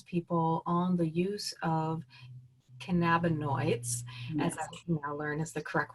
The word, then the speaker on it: cannabinoids: she really counsels people on the use of cannabinoids as I can now learn is the correct